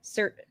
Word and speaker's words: Saoirse: Oh, there's already a card that's It rhymes with inertia. Saoirse.